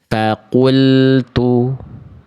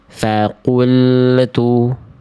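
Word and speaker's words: فقلت: Ya, yang tepat adalah yang A. Kenapa yang B salah teman-teman sekalian? Yang B salah karena lam sukunnya memantul.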